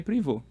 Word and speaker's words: Prevost: As duas coisas servem porque o pai dele tinha uma origem francesa, então seria privô.